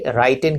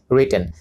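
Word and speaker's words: written: এই শব্দটি রাইটেন কিন্তু নয়, রিটেন।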